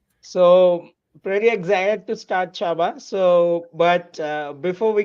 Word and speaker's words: Csaba: it correctly is it Chaba or sabba you you got it well so CS is like CH it's a Hungarian name pretty popular in Hungary